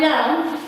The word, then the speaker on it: lamb: i'm going sorry my lamb is sick so don't say come we don't pronounce this book if a word ends with l and b we don't pronounce the b this one dice and